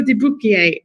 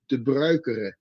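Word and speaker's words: Pedro De Bruyckere: his name wrong, Pedro de Bruquier. No, that's completely wrong. Pedro. Oh, okay. Is, as in the Spanish way, and his last name is de Bruikere.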